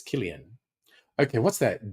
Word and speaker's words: Cillian: When I first saw his name when he was first coming out in acting, I thought it was Cillian. I found out it's Killian.